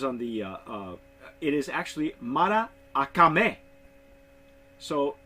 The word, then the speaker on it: Maracame: this name it isn't Murakami because I'm pronouncing it like it is like it is on the it is actually Mara akame so so the a you pronounced twice yes you know I've